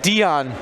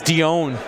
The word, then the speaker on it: Dion: my name is not Dion my name is Dion right Travis all right